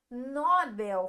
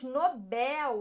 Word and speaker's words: Nobel: Não falamos Nobel, falamos Nobel. Aqui nós temos a última sílaba mais forte, oxítona.